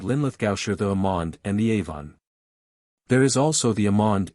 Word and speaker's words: Amhuan: The Old Gaelic form is Amuan, and the M by aspiration, becomes mh, whence Amhuan, pronounced Avon.